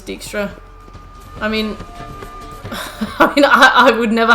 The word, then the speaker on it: Dijkstra: The way they pronounce it in the game is Dijkstra.